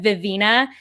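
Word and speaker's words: Vivenna: it gave me a video where brandon sanderson pronounced vivena vivina and it ruined my life and i don't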